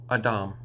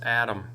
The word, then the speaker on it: Edom: This can only really be pronounced one way within the ancient lip, the pure tongue. Edom. Okay, and everyone agrees and goes, yep, that's Edom, except they'll be like, oh, that's Adam.